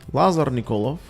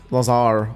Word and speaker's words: Lazar Nikolov: It's pronounced Lazar Nikolov, not Lazar or Laser, although Laser sounds cool.